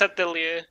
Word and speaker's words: atelier: It's French. Atelier. Atelier. If it's French, it's Atelier.